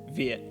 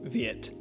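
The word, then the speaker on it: Việt: on screen for example we want to pronounce it viet not something like viet you want that t sound to barely even register the next thing i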